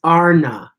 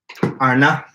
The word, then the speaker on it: Arna: It's Arna. That's how Carlos pronounced it. Arna. Arna. Like Arna.